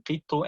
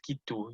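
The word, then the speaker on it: قطّ: We're going to be saying qittu and not kittu, you know, just for that from that angle.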